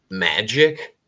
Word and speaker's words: Majic: Magic is the new one I watched is spelled Majic, and it's supposed to be about Majestic 12, and it's about this streamer.